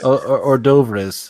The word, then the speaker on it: hors d'oeuvres: Hors d'oeuvres. I think that's how we pronounce it.